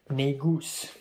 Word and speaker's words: Negus: Apparently, it's not pronounced like the N-word. It's actually pronounced Negus.